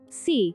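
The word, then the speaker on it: xu: associated with the heart c pronounced like sir with a slow exhale which is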